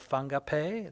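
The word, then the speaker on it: Whangape: very north part of the north island called fungape that's how it's pronounced is it yes she say uh a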